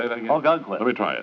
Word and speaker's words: Ogunquit: Ogunquit, Mr. Marlowe. How do you say that again? Ogunquit. Let me try it. It's an Indian name. Ogunquit. How do you spell it, Bob?